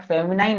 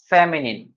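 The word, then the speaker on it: feminine: इसको कुछ लोग फेमिनाइन भी बोलते हैं, बट फेमिनाइन नहीं होता, the correct pronunciation is फेमिनिन।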